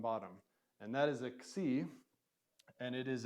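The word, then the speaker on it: ξι: c and it is a combo letter of Kappa and sigma put together so so if you say then put it together see that's the letter that's the sounds which is not unlike R combo letter right X now we put the vowel at the front when we say it we don't say C we say x and yet we're still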